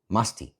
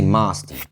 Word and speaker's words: musty: Then he goes, "Oh, musty. We don't say masty, it's just musty."